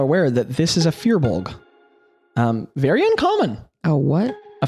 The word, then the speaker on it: firbolg: Both of you all are aware that this is a firbolg. Very uncommon. A what? A firbolg. Firbolg? Yeah, or furbolg, depending on how you pronounce it.